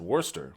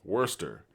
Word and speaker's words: Worcester: And that's how you pronounce it. Worcester. Worcester.